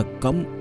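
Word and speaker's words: गं: इसी प्रकार गा के ऊपर जो बिंदी लगी होती है, वह गम उच्चारण होता है।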